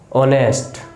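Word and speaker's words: honest: ऑनेस्ट। क्या है? ऑनेस्ट। एच तो यहां पर क्या है?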